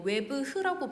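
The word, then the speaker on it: oeuvre: 근데 검색해봤는데 어떻게 읽는지 뭐 웨브흐라고 발음을 하는데, 웨브흐.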